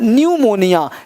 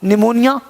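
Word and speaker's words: pneumonia: गया साइलेंट हो गया पी क्या हो गया साइलेंट हो गया है ना न्यू मोनिया निमोनिया क्या है सर बीमारी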